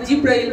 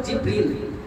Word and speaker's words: জিবরীল: হযরতে জিবরীল আলাইহিস সালাম আমরা অনেকে জিব্রাইল বলি আসলে সহি উচ্চারণ হল জিবরীল হযরত জিব্রল সালাম কেন